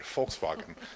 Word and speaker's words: Volkswagen: you've all heard about my family makes fun of me because I try to pronounce it in the German Volkswagen they hate that um but uh Volkswagen has an immensely powerful